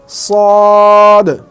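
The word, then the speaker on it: ص: সেটা হচ্ছে সদ সদ ঠিক এভাবে শেষে একটা বলকে যেভাবে দূরে নিক্ষেপ করলে বা সামনের কোন দেয়ালে নিক্ষেপ করলে যেমন ড্রপ খেয়ে নিজের কাছে ফিরে আসে তো ঠিক সদ উচ্চারণ করতে গিয়ে ঠিক সেভাবে উচ্চারণ হবে যেমন সদ সদ সদ এবার আসি আরো একটা হরফ নিয়ে।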